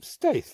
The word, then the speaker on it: Staithe: Staithe.